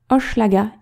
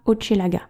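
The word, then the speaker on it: Hochelaga: vidéo en français mais ce mot se prononce ochlaga et non pas ochelaga ça nous paraissait important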